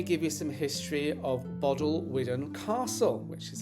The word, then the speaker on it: Bodelwyddan: But, first, let me give you some history of Bod Llwyfan Castle, which is how I learned to pronounce it.